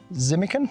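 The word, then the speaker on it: Tzimmukin: Zimican, it's called. So lovely to have a silent T involved, but it's a Shiraz Cabernet blend, and it's rack-dried fruit.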